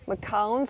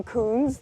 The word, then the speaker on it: Macoun: We're going to be sampling today the early varieties, which are Macintoshes, Macowns or Macoons, depending on how you want to pronounce them.